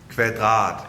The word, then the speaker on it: Kvadrat: My friend Henrik will take over because he's Danish and he can say it properly. Here we go. Kvadrat.